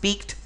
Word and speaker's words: piqued: Now in sentence 3 there were 2 words, both of them are pronounced peaked.